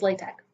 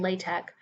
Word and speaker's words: LaTeX: Okay, moving on to what is LaTeX. LaTeX, sometimes pronounced LaTeX, is a markup language to typeset documents, and most specifically, it's used in the mathematics community.